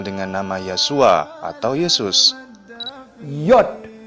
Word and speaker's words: yod: Yod, I-O-D. Bacanya Iod. Iod seperti ada Y.